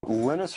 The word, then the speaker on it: Linus: And that's when Linus Torvalds came along. Linus or Linus? What's your preferred pronunciation? When I speak Swedish, it's Linus. When I speak Finnish, it's Linus.